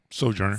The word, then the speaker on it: sojourner: and loves the sojourner that's the correct way to say that right sojourner so jenner giving him food and